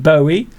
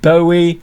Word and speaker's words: Bowie: We lost David Bowie, or David Bowie, last year. Some people say David Bowie, some people say David Bowie. There are many different ways to pronounce words, and a little